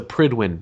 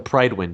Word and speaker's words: Pridwen: But he told me that every time he went to the recording studio, the engineer always reminded him that it was the Pridwin, not the Pridewin.